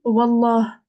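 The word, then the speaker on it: والله: Et ben, Oui, l'alif, on le prononce pas, on dit direct wa, la.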